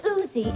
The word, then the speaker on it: Uzi: this princess's act play in new york it's pronounced uzi it's a blowback semi-automatic submachine gun meet the